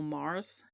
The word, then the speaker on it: Magrs: and Effie Mysteries by Paul Mars. His name is spelled Magrs.